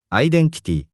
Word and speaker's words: アイデンティティ: We pronounce it アイデンティティ。